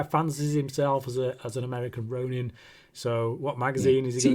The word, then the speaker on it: ronin: pronounced the same, and they put as much emphasis on every letter, kind of thing.